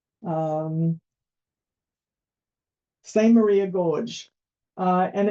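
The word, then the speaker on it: Samaria: certainly not pronounced that way so that is pronounced um same Maria Gorge uh and it's it was a nice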